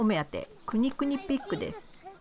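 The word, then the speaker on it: kunekune: 私のお目当てくにくにピックですねくねくねって書いてありますけど発音は国くにですこの豚は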